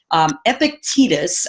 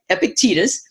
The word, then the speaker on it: Epictetus: and I loved this Epictetus I believe is the way we say his name Epictetus and Epictetus was born